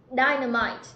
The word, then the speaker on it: dynamite: Dynamite, trọng âm rơi vào âm thứ nhất.